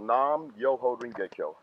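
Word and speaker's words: Nam Myoho Renge Kyo: But it's pronounced Nam Myoho Renge-kyo.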